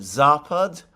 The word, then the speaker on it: Zapad: Now, by the way, can I just take this opportunity to thank the person who corrected my pronunciation of Zapad? The stress is on the first syllable.